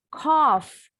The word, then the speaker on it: cough: Atau cough. Ini juga nggak boleh silent.